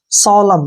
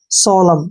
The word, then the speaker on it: solemn: N को हमने नहीं पढ़ना है। सोलम, क्या पढ़ेंगे, सोलम।